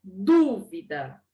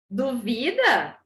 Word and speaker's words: dúvida: a primeira palavra é dúvida e essa duvida você duvida que eu consigo olha só essa palavra dúvida ó no vida mudou o lugar da sílaba tônica professora eu tenho uma